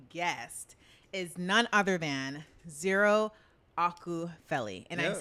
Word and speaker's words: Ziiiro Akupheli: So tonight, my special guest is none other than Ziiiro Akupheli.